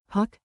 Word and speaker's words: puc: Say it like puck, short and crisp.